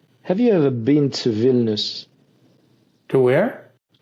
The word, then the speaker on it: Vilnius: How do you spell Vilnius, Viln, if I remember correctly, IUS, Vilnius.